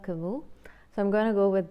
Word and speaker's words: Camus: Somebody corrected me that I was pronouncing his name wrong, but I checked online how to pronounce his name and it said it is not Albert Camus but Albert Camus.